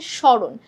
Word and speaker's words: স্মরণ: মত উচ্চারণ হচ্ছে দন্ত স্মরণ শব্দের সঠিক উচ্চারণ কোনটা এটাও কিন্তু দেখেই বোঝা যাচ্ছে যেটা আবার তালব্য সের মত উচ্চারণ হচ্ছে স্মরণ ঠিক আছে তাহলে উচ্চারণটা